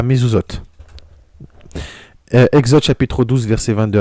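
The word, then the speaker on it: מזוזות: Les poteaux de porte, ça se prononce à mezuzot, des Hébreux, afin que l'ange exterminateur n'exterminât point les premiers-nés hébreux.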